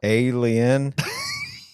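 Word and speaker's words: A'Le'Inn: and ra and Rachel what alien alien get it alien alen but it's is spelled a l e i n n oh yeah alien alien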